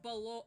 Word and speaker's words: Balore: And yeah, Balore here, and it's pronounced Balore, and it's not a G there, that is Dawn of Sorrow.